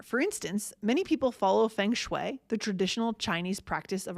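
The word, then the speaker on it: feng shui: But if you pronounce it differently because we pronounce it as closely to the original Chinese in English as we can with our American mouths.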